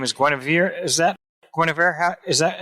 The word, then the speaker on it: Guenevere: pronouncing correctly or not that's correct grenadier spells with four e's four e's brian all right now she is a total total ash brian person with the east if you forget if you forget my name as gwenevere you can just say give me a beer because it rhymes with grenadier yeah we love her